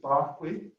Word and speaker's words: Berkeley: figure there is uh bishop barkley um who which berkeley and california is named after but they changed the pronunciation he was kind